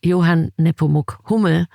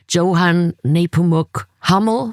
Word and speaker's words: Johann Nepomuk Hummel: I just recently found from one of my favorite composers, Johann Nepomuk Hummel, in German pronounced, in English they pronounce it most likely Johann Nepomuk Hummel, because it's Hummel.